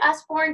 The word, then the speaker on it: Usborne: Is it Usborne?